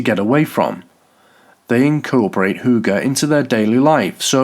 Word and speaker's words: hygge: Hard to explain and even harder to pronounce, the Danish word hygge, pronounced hygge, has exploded in popularity around the world.